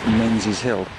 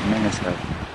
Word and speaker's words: Menzies Hill: It's actually spelled M-E-N-Z-I-E-S-H-I-L-L because presumably it belonged to the farmer Mingus. Now it looks like Menzies, so it should actually be pronounced Menzies Hill. Well, it looks like it should be pronounced Menzies Hill, but we pronounce it Mingus Hill.